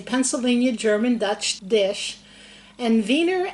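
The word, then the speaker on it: Wiener: we're going to make vener snitchel vener snitel is a Pennsylvania German Dutch dish and vener actually starts with a w but you pronounce it with a V and what it is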